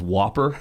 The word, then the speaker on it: WOPR: be hurt or not, because the way you pronounce that computer's name, if I remember now, was Whopper.